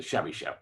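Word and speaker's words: Chebyshev: polinomial by the way it's called Chevy chef polinomial but the letter T is used and that's because um in some uh uh Western Europe languages Chevy Sev is spelled TCH um you know basically TR transcribing or translating Uh Russian names into Latin alphabet names is a is difficult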